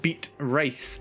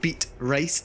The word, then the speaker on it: Beatrice: Because I keep hearing people saying this name Beat Rice. It is not called Beat Rice, it's Beatrice. Get the name right.